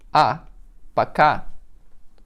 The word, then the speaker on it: Пока: It will be пока. P-O-K-A. Пока.